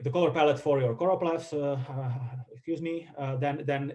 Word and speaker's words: choropleth: side note uh it's uh it indeed is choropleth and it's it's not chloroplast it's it's a very common mistake to to mispronounce it or mism write it and the